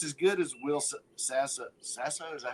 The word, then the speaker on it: Sasso: as good it's as good as will sass Sasso is that how you say it yeah doing